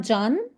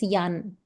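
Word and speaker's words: Jan: It's not John. Believe me and John, it's Yan. So there is one tram stop nearby me. Uh the name of the tram stop is Yan Raz.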